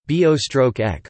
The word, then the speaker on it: Börek: Börek Turkish pronunciation, bo-ek, also byrek and other